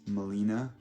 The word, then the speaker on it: Gmelina: actual plant name is Molina it's actually spelled with a g in the front the g is silent and uh yeah these